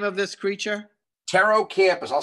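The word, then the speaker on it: Pterocampus: Taro Campus. I'll spell it up here.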